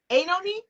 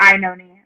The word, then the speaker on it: Oenone: You're very close. It's Oenone. Oenone? Yeah, or Ione. Like, it just depends on what you choose to emphasize. Okay, I'm going to do Oenone.